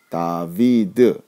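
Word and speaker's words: דוד: 자 이렇게 해서 읽으면 모음을 이제 첨가해서 읽으면 다비드 이렇게 됩니다 그래서 다 다윗 성경에 다윗 임금의 이름을 히브리 식으로 발음하면 다 이렇게 되는 자 그리고 다음 단어는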